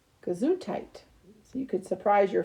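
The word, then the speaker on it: Gesundheit: which is prop pronounced guess height it is the german word that wishes someone good health after sneezing kazoo tight so you could surprise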